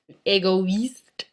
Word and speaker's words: égoïste: Like in Noël, égoïste, each vowel gets its own separate sound.